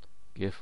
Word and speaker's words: GIF: save this as a GIF. GIF or GIF as some people pronounce it.